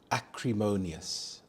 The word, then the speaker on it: acrimonious: about grammar annoyed everyone acrimonious acrimonious the stresses on the third syllable Mo acrimonious this means angry or